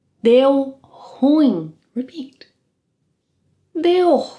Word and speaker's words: ruim: you can say deu ruim. Repeat. Deu ruim. Deu ruim. A quick tip here. The correct pronunciation of the word on its own is ruim.